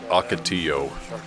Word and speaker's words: ocotillo: Wow oh and in case you're wondering that's pronounced ocotillo there it looks like there's some SAP coming